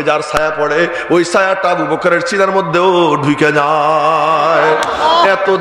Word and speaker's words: আবু বকর: আর বলবো না এই নামটা একটু কষ্ট করে উচ্চারণ করতে হয় আবু বকর আবু বকর কয় হসন্ত রও হসন্ত আরবিতে ক কাফ এবং রা দুটাই সাকিন আবু বকর অনেকে ছেলেপেলের নাম